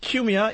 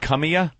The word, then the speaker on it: Cumia: Cause'the original pronunciation from Sicily Is CUMIA.